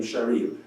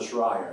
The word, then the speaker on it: Shrayer: So in Israel, our branch became Shrayer, not Shrayer. And of course, without vowels, it's spelled virtually the same.